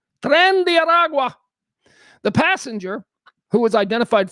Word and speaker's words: Tren de Aragua: Tren de Aragua. Tren de Aragua.